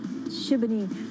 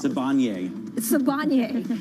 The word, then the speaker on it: Sibanye: rather, Chief Executive of Shibani Stillwater, a precious metal mining company. I'm sure I butchered the name, so we'll get the right pronunciation as well. Sibanye. That's close next.